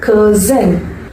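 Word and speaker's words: Curzon: ஆர் அப்படிங்கிறது சைலண்டா pronounce பண்ணணும். கர்சன்.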